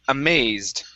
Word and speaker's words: amazed: Now, most of most of these words we're looking at stress. Okay. Uh so, you're putting the stress uh in the incorrect spot on the word. Okay. Uh so, first up, we have the word amazed. Okay. So, our stress is right here instead of amazed. Okay. It's amazed. Amazed.